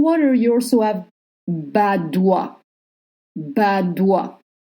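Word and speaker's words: Badoit: Badois. O plus I makes the sound wa, and you don't pronounce the T.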